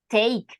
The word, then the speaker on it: take: Take, we don't pronounce the E at the end.